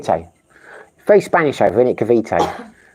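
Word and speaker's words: Cavite: say it had kav kaviti or kaviti kavit kav kavete very Spanish over it kavite I said kavit but because I've been here I know it's kav a decent English breakfast in Duma.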